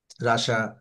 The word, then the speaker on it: Russia: And also in Canada, রাশিয়া। রাশিয়া শব্দটার উচ্চারণ কিন্তু রাশা। হুম, আচ্ছা। রাশিয়া, ইয়েস, রাশা।